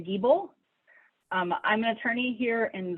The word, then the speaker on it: Giebel: We will go to. And please, if I mispronounce your surnames, please correct me if I get your pronunciations wrong. It's actually Giebel.